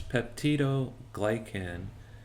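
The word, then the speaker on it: peptidoglycan: and this is comprised of Pepto glycan um that's spelled p e p TI d o g l y CN so it's pepti glycan and this is essentially a biopolymer that contains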